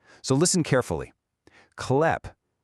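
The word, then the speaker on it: хлеб: Klep. It's not kleb.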